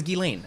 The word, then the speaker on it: Ghislaine: It's Ghislaine. How would you pronounce Ghee? Is that Ghislaine? Yeah, like Guy. Ghislaine. Okay, so her name is Ghislaine.